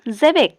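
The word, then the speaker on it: xebec: বাদ্যযন্ত্র এর পাশে আছে দেখো এক্স ই সি জেবেক এটার উচ্চারণ হলো জেবেক জেবেক হলো এক ধরনের সামুদ্রিক জলজান এরপর আছে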